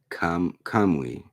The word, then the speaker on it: Kamui: So it's called Ninja Kamui, Kamui, Kamui, because UI you pronounce like we.